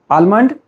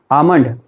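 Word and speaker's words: almond: से आलमंड और आलमंड look if there is यल इट इज़ आल्सो silent that is व्हाई यू कैन नॉट नॉट से it like आलमंड। आलमंड is wrong pronunciation. The correct one इज़ आलमंड because एल is silent.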